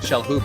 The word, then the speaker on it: Shalhoub: How do you say it? Shalhoub. You say the H. Shalhoub.